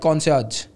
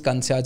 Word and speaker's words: concierge: then I was like we call it concerts uh then people say no no it's concierge and something like that